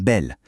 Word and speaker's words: belle: Mais le plus génial, c'est pour un mot comme belle. Si on coupe le mot en syllabe, on a belle le. La première syllabe belle se termine par le son le. Elle est donc fermée. Et voilà pourquoi le e de belle se prononce e.